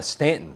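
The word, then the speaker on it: Staunton: Oh, and by the way, that's uh Stanton. That's how you pronounce it in Virginia. Yeah, we got friends down there. It's called Stanton. I know it looks like Stuntton, but it's Yeah, I wanted to stay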